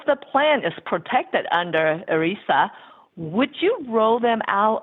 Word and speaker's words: ERISA: And I guess the acronym, how would you pronounce ERISA? that? ERISA.